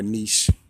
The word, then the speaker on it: niche: past videos are always my particular niche or niche, if you want to pronounce it in French.